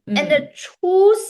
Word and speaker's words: 出: So for 出去, ch sound, right? Ch, and then the ending sound is u shu shu, right? Hmm? Chu. And remember, it's the first tone.